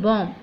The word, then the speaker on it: bomb: BOMB, एज यू all know that this is actually बॉम्ब, मगर कई लोग इसको बॉम्ब बोलते हैं, जहाँ पे B जो है इसका साउंड बिल्कुल नहीं निकालना है, इसको साइलेंट रखना है, यानी कि आप रेड कलर का B देख सकते हैं।